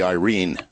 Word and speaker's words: Irene: my way of thinking Erin it's AI ry n erin but actually correctly pronounced as it would be read by filipino would be irene but AI ry and